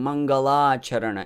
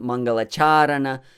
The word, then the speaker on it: Maṅgalācaraṇa: forgot in the beginning mangala charana it's not mangalacharan it's on mangalacharana it's mangala charana there is only one long ah all others are short so don't go into